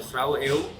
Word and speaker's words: Grauwe Eeuw: an activist group called the Grauwe Eeuw, which is in Dutch, it rhymes with the Gouden Eeuw, that means golden age.